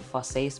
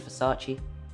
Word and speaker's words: Versace: properly at the time i should call it farsees but it's obviously versace chino dolce gabbana was